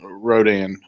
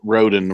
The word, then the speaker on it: Rodan: King Dora um and Rodan uh Roden Rodan whatever however you want to pronounce it I've heard it both ways um so we'll be